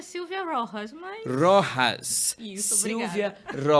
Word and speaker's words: Rojas: pronuncia? Na realidade é Silvia Rojas, mas...